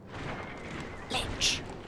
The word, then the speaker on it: lich: And what does witch rhyme with? Lich. It rhymes with lich.